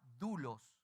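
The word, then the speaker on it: δοῦλος: la palabra que aparece es esa y se pronuncia dulos y significa esclavo está hablando de esclavo y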